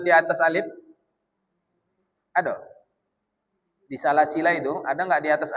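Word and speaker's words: سلاسلا: bilfi walbati waqfan rutila Dan pada lafaz salasila surah al-insan ayat 4, cara membacanya dengan menghilangkan alif atau mensukunkan lam.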